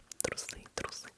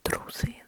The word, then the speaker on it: трусы: And then it depends on where you put the stress. On which syllable. If you say трусы, then it means powerful women do not need any cowards. Women do not need cowards.